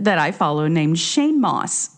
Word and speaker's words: Mauss: Then I remembered there's a comedian that I follow named Shane Moss, Mauss, pronounced Moss.